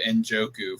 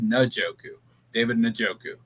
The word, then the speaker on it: Njoku: And I've been saying David Njoku for 5 years. It's David Njoku.